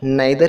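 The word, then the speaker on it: neither: उसी प्रकार नीदर है, हम इसे नीदर भी पढ़ सकते हैं और नाइदर भी पढ़ सकते हैं, बोथ आर करेक्ट।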